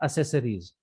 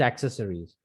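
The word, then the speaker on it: accessories: तो एक्सेसरीज word जो है उसको भी हम आप गलत प्रोनाउंस करते हैं, उसको हम बोल देते हैं असेसरीज। Mobile एसेसरीज, कार एसेसरीज shop, which is एक्सेसरीज।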